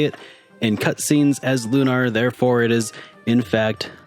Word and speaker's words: Lunar: lunar and they say it in cutscenes as lunr therefore it is in fact lunr so lunar is a game that normally comes